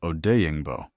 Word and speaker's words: Odeyingbo: time behind Sweat and the newly added Dayo Odeyingbo. Yes, that's the right pronunciation.